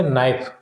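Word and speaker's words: knife: इसी तरीके से नाइफ, नाइफ तो हो चुका है ऊपर भी, नाइफ में के साइलेंट है।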